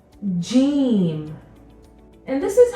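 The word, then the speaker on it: ج: put a dot inside this letter is called Gene Gene it makes a sound Gene and this is similar to your letter J in English the dots inside Jim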